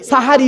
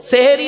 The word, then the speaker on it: সাহারি: শেষ অংশের খাবারকে আরবিতে সাহারি বলে তাহলে শব্দটা কি হবে সেহরি না সাহারি ভুলটা ভাঙলো সারাজীবন তো সেহরি